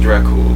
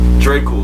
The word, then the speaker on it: Dracul: like lamar even though technically it's pronounced dracula you know i'm like ain't nobody gonna call me dracula drake cool sounds way better that's